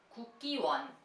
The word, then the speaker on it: Kukkiwon: Kukkiwon.